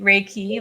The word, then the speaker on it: Reiki: like a IFI raik reik how do you pronounce it reiky raiki Reiki like rlight and a key to unlock so